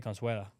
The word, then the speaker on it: Consuegra: We have Stanley Consuegra. I believe I'm pronouncing that right. I think you want to just say Consuela. Okay. Yeah. Take the G out. Sound like that.